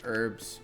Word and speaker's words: herbs: It's actually herbs. You don't pronounce the H, heathen.